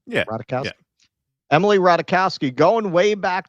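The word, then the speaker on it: Ratajkowski: Um, however, somebody who is that kind of activist is Emily Ratikowski. That's how you say her name. Yeah. Radikowski.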